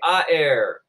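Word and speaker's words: aer: oxygen nitrogen carbon dioxide everybody say I air it is two syllables long everybody say I air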